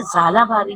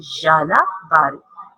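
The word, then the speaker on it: ژالہ باری: अगर कुछ बच्चे कहते हैं ना झालाबारी, तो बच्चों झालाबारी राइट प्रोनाउंसिएशन नहीं है, राइट प्रोनाउंसिएशन है झालाबारी।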